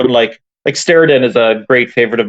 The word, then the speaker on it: Steredenn: Steriden? I'm not sure if I'm pronouncing it right. Yeah, it's Steredenn.